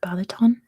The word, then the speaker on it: Balaton: you find Lake Balaton I'm pretty sure that's how you say it right like Balaton Lake Balaton which country can